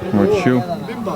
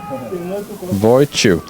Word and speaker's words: Wojciech: Maybe it's actually pronounced Wojciech. Wojciech. Chew as in chewing something. Wojciech.